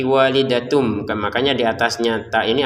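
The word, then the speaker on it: وَالِدَةٌ: Maka kita baca dengan walidatun bertemu ba dibaca dengan samar. Walidatum biwaladiha. Jadi jangan dibaca walidatun lagi tapi walidatum.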